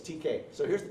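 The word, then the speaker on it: Teka: And I never know how to pronounce Texas town names. Some on the map, some of them just are the letter T and K, TK. Some of them are T-E-K-A. So anyway, it's TK.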